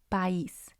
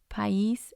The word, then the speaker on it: país: But because it has the accent, I moves to its own syllable. So it's going to have 2, and the stress is going to be on the I.